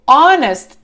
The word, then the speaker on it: honest: Honest começa com H, sim. Só que na pronúncia não falamos honest, falamos honest.